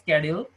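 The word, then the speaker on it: schedule: নতুন না, এটা ছিল, এটা স্ক্যাডিউল মানে শিডিউল, আমরা বাঙালিরা অনেকে শিডিউল বলি, তবে আসলে এটার প্রপার প্রোনাউন্সিয়েশনটা হবে স্ক্যাডিউল। তো স্ক্যাডিউলটা আপনারা চাইলে টুইটারে অনেক ভালোভাবে এখানে সুন্দর করে করতে পারবেন।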